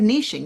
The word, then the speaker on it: niching: I want to find that's another way of niching. Niching isn't just about, or niching rhymes with itching.